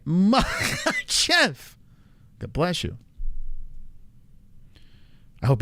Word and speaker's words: Makhachev: Someone says don't pronounce the letter K. Strong H. That's all. Makhachev. I like to pronounce it like a sneeze. That's how I can get it right. Makhachev.